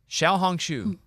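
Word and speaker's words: 小红书: so uh it's called This is how you say it for real Shia hong shu wow that sound cool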